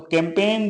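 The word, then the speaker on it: campaign: लिखा जाता है तो कैंपेन जो लिखा जाता है वो सी ए एम प ए जी आई एन जिसमें की जी साइलेंट है क्योंकि जी से पहले क्या हुआ है आई आया हुआ है तो कैंपेन मस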